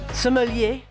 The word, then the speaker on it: sommelier: Sommelier is a French word, and if we were going to say it in French, we would say sommelier.